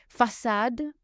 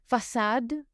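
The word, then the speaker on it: façade: the little squiggle underneath, then you pronounce it like an s. For example, sa sa means that gas gen means boy. So it's a s sound. Facad facad means front.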